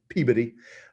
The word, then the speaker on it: Peabody: women the peabody sisters peabody but they pronounce it peabody in massachusetts um become the